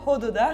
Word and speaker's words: Ododa: Donc déjà, en fait, de base, c'est Ododa. En fait, il faut refaire tout le vlog, Ouais, les il faut gars. tout refaire. J'ai mal prononcé Ododa. Non, mais on savait très bien que, évidemment, personne n'allait dire Ododa. Mais en fait, ça veut dire, c'est l'impératif du verbe sentir en arménien.